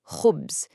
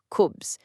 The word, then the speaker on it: khubz: The Arabic word for bread is khubz, starting with that really distinctive kha sound. It requires this soft, throat-clearing friction. If you've ever heard the Scottish word lock, yeah, it's that exact same satisfying friction. But a super common mistake is just skipping that friction entirely and saying kubs.